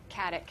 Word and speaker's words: Katic: You pronounced it awesome, and Stana, thank you so much. Katic.